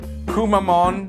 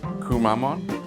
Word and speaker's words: Kumamon: are good looking yeah we're back with cool kumamon I want to say his name right kumamon kumamon kumamon the Japanese mascot bear this is